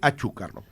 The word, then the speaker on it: Achúcarro: Y la pronunciación, de acuerdo a un genealogista que es Ricardo Goldaracena, que a quien conocí, y que ha investigado sobre este apellido, dice Achúcarro.